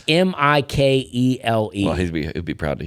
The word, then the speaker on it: Mikhail: Yeah, I mean, Mikhail, it's Mikele.